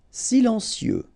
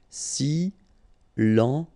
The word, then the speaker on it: silencieux: Silencieux, final X not pronounced, okay? This part here will be pronounced like cieux, okay? Then you get silencieux, silencieux.